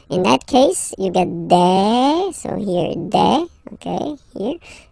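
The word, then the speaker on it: des: Okay, and then the plural form, de. Alright, here S, you pronounce it like e.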